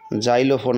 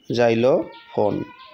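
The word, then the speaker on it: xylophone: এক্সের উচ্চারণ যদি বর্গীয় উচ্চার মতো হয় তাহলে কিন্তু এ হয়, যেমন জাইলোফোন আছে না, জাইলোফোন, জাইলোফোন হলো এক ধরনের বাদ্য যন্ত্র, ঠিক আছে, এর আগে এ হবে।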